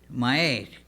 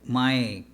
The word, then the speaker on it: Maillet: His name is, you can tell me, Charlie, how to pronounce that. His last name is Maillet. Maillet. Okay. E-T. Maillet.